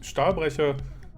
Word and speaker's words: Stahlbrecher: third map, which is Stahlbrecher. Do notice there's no K in that word, so we're not pronouncing a K.